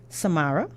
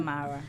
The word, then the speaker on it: Samara: We have with us for now Samaria. I said it right the first time? Samara, yes.